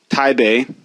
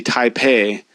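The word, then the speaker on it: Taipei: the capital of Taiwan taibe most of you may think that it's actually taipe because it's spelled with a p but that P is actually representing a b sound in that instance in fact really the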